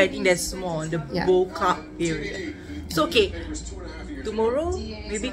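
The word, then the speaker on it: Bo-Kaap: Boca. That's how it's pronounced.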